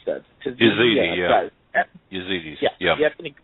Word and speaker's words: Yazidi: I just don't know how to pronounce that. Yazidi, yeah.